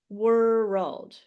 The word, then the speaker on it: world: would suggest is you divide it into two syllables like this and say world world world now this is hard to but it's a little bit easier than saying world right were red and then just keep saying were red like it's two syllables two claps were red World until you can make it into one world okay does that help